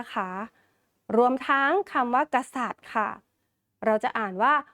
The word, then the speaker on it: กษัตริย์: รวม ทั้ง คำ ว่า กษัตริย์ ค่ะ เรา จะ อ่าน ว่า ร อิ ย กา ค่ะ เพราะ ว่า ร เรือ สระ อิ แล้ว ก็ ย ยักษ์ จะ ไม่ ออก เสียง เพราะ ว่า มี ทัน